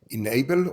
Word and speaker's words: ennabl: tell me more about inable or is that the way is that the right way to pronounce it enable right enable yeah the misspell is